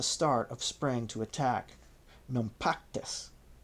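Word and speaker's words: Naupactus: For they were in no doubt that the Romans would return at the start of spring to attack Nactus, spelled N A U P A C T-Us.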